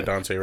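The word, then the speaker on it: Daunte Wright: Yeah, Dante Wright.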